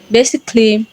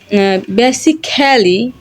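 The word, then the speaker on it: basically: দিয়ে বলতে পারেন ফিজিকলি বেসিকলি মিউজিকলি আর্টিস্টিকলি রোমান্টিকলি এখানে এই লেটারটা সাইলেন্ট হয়ে গেছে এখানে বেসিক্যালি এভাবে আমরা প্রোনাউন্স করবো না প্রোনাউন্স করবো না এখানে ক্লি প্রোনাউন্স করব এখানে সাইলেন্ট ওকে দ্বিতীয়ত এ আর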